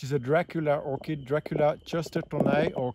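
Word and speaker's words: chestertonii: a Dracula orchid, Dracula chestertoni or kirstertoni, if you pronounce it with a K, C-H is a K in Latin, and it's an endemic species from Colombia, just existing in Colombia.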